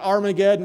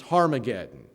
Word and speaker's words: Harmageddon: It's not Armageddon with an A, it starts with an H. It's Harmageddon.